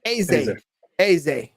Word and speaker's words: Eze: Eze.